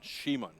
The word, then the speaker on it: Simon: Shimon. I have to say his name correctly from now on.